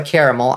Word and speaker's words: caramel: I say caramel. That shit's caramel. Oh, there it is right there. Shit. Okay. Great horned Tragoth. It is caramel. Hell no. I reject. So that's just 3 whole syllables.